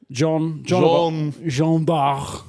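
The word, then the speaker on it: Jeanne d'Arc: I think it's pronounced Jean. Jean d'Arc. Jean d'Arc.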